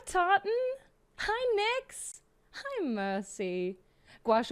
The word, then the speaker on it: gouache: Gouache always sounds like it ought to be a madeup word. I I pronounced it go the whole time.